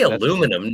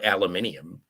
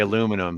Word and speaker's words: aluminum: you're in well that yeah it's you can pronounce it either way uh yeah but I say aluminum not aluminium I'm glad you say aluminum the right way well how else am I